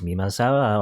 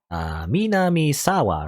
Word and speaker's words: 南沢: I think she's Mimasawa, or how you say her name? Mimasawa? Minamisawa? Something, whatever? Minamisawa Senri, is that what it was? I can look back at this. Minamisawa, rather.